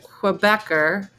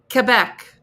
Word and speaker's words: Quebec: with so um if you really want to speak like a quebecer you pronounce it Quebec like Quebec Quebec not Quebec Quebec I couldn't even